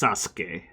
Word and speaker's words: Sasuke: There's a character, Sasuke. His name is spelled like Sasuke. Yeah, that's spelled like Sasuke, really. Yeah, like Sasuke. But it's pronounced Sasuke. Like you just pause on the S a little more.